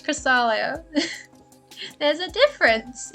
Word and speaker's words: Cresselia: Cresselia is spelled different. It's not. It's not Cresselia. Not Cresselia. Not Cresselia. It's Cresselia.